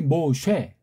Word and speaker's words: 모쉐: 그걸 따라서 어떻든 모쉐가 구약 발음이 모쉐, 헬라 말은 모세스, 티세미가 이게 미완료된 거예요.